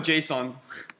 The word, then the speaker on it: JSON: the Su about what it's supposed to be pronounced I thought it's pretty stupid but it's called Json okay so the next like oh oh so